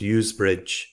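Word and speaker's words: Ouse Bridge: of bassenthwaite water to ooze bridge pronounced usbridge it runs directly along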